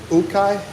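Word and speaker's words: ukay: Ukai.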